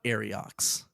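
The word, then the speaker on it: Ariox: so the the the the signature reads uh arox a r IO X arox wrote the letter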